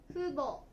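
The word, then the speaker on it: 父母: で父母と書いて、父母ね、父母という言葉もあります。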